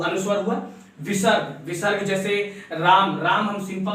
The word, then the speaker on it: रामः: विसर्ग, विसर्ग जैसे राम, राम हम सिंपल सा लिखते हैं राम, और राम के बाद हम क्या देते हैं?